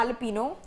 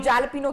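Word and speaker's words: jalapeño: ये एल्पिनो, हाँ जी, अगर आप जैलपिनो कहते हैं, जो कि गलत है। हाँ, इसको एल्पिनो, जे साइलेंट है, जे साइलेंट।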